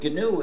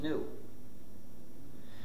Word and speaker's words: GNU: the reason is because according to the dictionary the g is silent and it's pronounced new so anytime you were